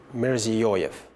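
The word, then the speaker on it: Mirziyoyev: name of the president his first name is shafkat shafka shafkat yep his last name is mirzi yoif yes difficult sometimes for americans to get a hold of that tell us a little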